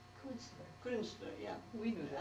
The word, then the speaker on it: Künstler: I figured you would be, can you pronounce that word that starts with K? Künstler. Künstler.